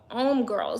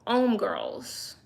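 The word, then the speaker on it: Hommegirls: Like, why is the magazine name called M Girls? And it's supposed to make you think home girls, but it's pronounced because it's French. They don't pronounce the H. They don't say the H.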